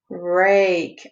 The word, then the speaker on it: rake: Rake. I hear the A and I don't hear the E, so there goes my silent E column.